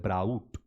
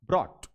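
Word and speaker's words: brought: उच्चारण कर लोचा है कई दफा लोग क्या करते हैं उसको गोल करके बोलते हैं ब्राउट ब्राउट नहीं बोलेगा यह बोलेगा ट ब्रॉट बोलिए बाय बट बट बोलिए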